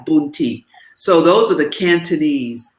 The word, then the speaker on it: Punti: are known as punti it's spelled p-u-n-t-i boon ti so those are the